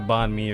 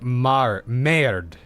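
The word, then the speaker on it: bánh mì: have got like a bonme or some kind of I got a burrito today instead. So no, no, no. Bon me. It's pronounced more like mar me.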